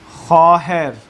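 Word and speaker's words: خواهر: ये ख़ाहर। ख़ाहर देखें वो मादूला है, कल हमने पढ़ा खे के बाद जब वो आता है तो उसको बाज़ दफ़ा नहीं पढ़ा जाता और वो साइलेंट रहता है, तो बहन को जो है वो ख़ाहर।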